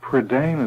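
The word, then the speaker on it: Prydain: Am I saying Predane right? Predane is the way I usually say it. I'm sorry. The predane I think the best way to pronounce is the way that sounds best to you.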